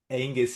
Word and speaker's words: Angus: What is What is the best way to pronounce your name? Angus is perfect.